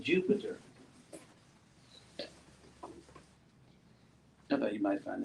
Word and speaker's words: Jupiter: So if you have that same, so in Europe, a D-Y can be pronounced like a J, like in England, Europe, duty, your duty. So if you use that same pronunciation here, you get Jupiter.